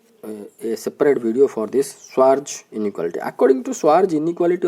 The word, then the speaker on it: Schwarz: can be said as according to Schwarz, the pronunciation is Schwarz theorem.